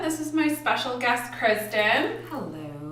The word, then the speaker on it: Crisdon: special guest Kristen hello notice I didn't say cries them are Kristin Kristin Kristin Kristin and see why people get confused though kind of funny the way it's spelt yeah everyday people like oh that's a neat way to spell that it's C RISD oh and doing it Kristin yeah we've been friends